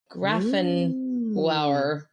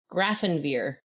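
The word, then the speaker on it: Grafenwöhr: graphin wower but then it's spelled spelled phonetically graphin verir definitely not graphin wower because that would be quite the name there's no V in the in the German spelling but graphin ver is how you would say it okay and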